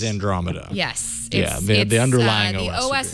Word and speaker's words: Andromeda: scheduled it's called Andromeda which I was sort of pronouncing as andr MAA yesterday the OS is Andromeda yes the underlying the